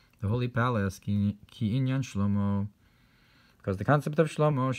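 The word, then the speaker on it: שלמה: Therefore Shlomo is spelled with a hey, but it's pronounced with a cholem, which is this union of the masculine and feminine. And also Shlomo, who brought in the Aaron into the Kodesh.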